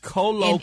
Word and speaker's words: colloquially: If you're saying queerly, you should have given him a W. Colloquially.